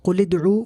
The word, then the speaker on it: قُلِ ادْعُوا: Pronunciation, we pronounce this one connected, قُلِ ادْعُوا, whereas this one we pronounce independently, إِلَيْهِ أَدْعُوا.